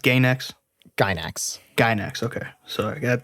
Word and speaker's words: Gainax: So the production company that made this is called, or is it pronounced Gainax? Gainax.